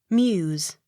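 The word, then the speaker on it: Meux: accent on first syllable m e u x muse the x sounded as s m i l l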